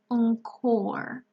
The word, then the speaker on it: encore: so you see that the sound here is not a sorry it's closer to an awl encore orchestra genre chorus cacophony